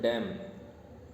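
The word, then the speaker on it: damn: N silent इसमें डैम.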